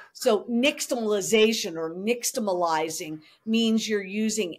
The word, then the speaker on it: nixtamalization: It's an ash corn or a nixtamalized corn, as opposed I was going to ask you how to pronounce that. Right. So nixtamalization or nixtamalizing means you're using ash to boil